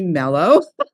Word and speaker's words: Meloe: Satomi, it's actually Mellow.